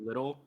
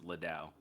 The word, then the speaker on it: Liddell: EJ Little. Did I say it wrong? Yes, it's Liddell.